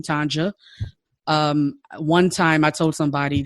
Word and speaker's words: Tonja: Some people may be like Tanya, because especially if your culture, the J is silent. I totally understand that. But I'm like, no, it's Tonja. Use the J. It's a hard J. Embrace the J.